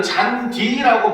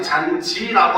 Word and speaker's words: 잔디: 그래서 우리는 잔디라고 발음하지 잔지라고 안 해요.